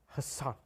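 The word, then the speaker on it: Hasan: on Ellen he's like people haven't actually been saying my name wrong and he's like it's h son and then she he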